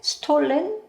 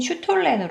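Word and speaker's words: Stollen: 요거를 찾았어요 요거는 그 영어식 발음으로는 스톨렌 이렇게 부르는데 한국에서는 슈톨렌이라고 많이 부르시더라고요 독일식 발음은 제가 잘 모르겠습니다 그래서 여러분이 익숙 하신 발음인 슈톨렌 그래서 이거 럼주에 담근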